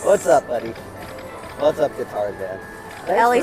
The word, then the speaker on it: Guitarzan: Guitarzan. Like guitar, like Tarzan.